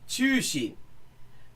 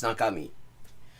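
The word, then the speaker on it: 中身: And so you go around thinking that the combination of chu as in naka and shin as in shintai or mi, like body, is pronounced chushin, when in fact, because you've also never heard somebody, say it in conversation, and then it turns out it's nakami.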